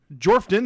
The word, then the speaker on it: Jorphdan: We have Jordan Peterson with Jorphdan, the PH is silent.